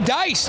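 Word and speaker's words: Deiss: know you were making a joke, but uh Dice is back out there. It's an important distinction. Brody Dice, d e i s s pronounced Dice, had a goal earlier and had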